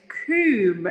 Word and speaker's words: Coombe: So my surname is Coombe. Now you might say, why say it like that? But I live just snugly between Brandon Hall and Coombe Abbey, and then I've got this lovely little place here.